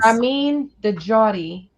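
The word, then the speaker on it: Ramin Djawadi: Ram de Jotty.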